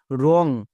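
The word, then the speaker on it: wrong: উচ্চারণ কি দাঁড়ালো ডব্লিউ আর ও এন জি রং তাহলে ডব্লিউ কখন সাইলেন্ট থাকে আশা করি সবাই বুঝতে পেরে গেছো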